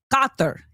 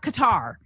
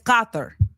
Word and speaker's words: Qatar: It's Gothther. And I think I'm I'm trying to get that cuz it's Arabic.